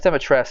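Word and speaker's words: Dimitrescu: No, it's Demetress. It's like a Romanian name. So you got to pronounce it in a certain way. Because everyone was saying Demetrescu, I think, because that's how it's spelled. But Demetress is like the proper way.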